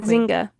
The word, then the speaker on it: Nzinga: Your queen, Nzinga.